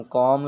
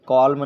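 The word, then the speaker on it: calm: सी एल ए एम कॉम इसको कॉलम नहीं पढ़ा जाएगा कॉम पढ़ा जाएगा जैसे एम से पहले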